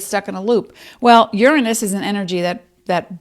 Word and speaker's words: Uranus: momentum your action in the sign of taurus uranus and that is the correct pronunciation uranus urano is a greek word means